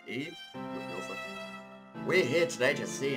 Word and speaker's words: Ib: let's play it so this is slim it's pronounced eve it's just it's easy to say because it looks like it would be eeb yeah that's going to be said eve let's